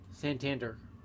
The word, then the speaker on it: Santander: Santander. Really the way it's pronounced here, so.